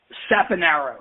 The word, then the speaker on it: Saponaro: name at the beginning it's how do you pronounce it again it's SA Aro you actually got it right at Theo yeah